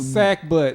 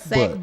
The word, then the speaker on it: sackbut: Sack butt.